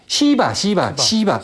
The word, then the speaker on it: 시바: 신이 있고 크리슈나 아니 쉬바나가 아니라 시바 발음을 잘해야겠네.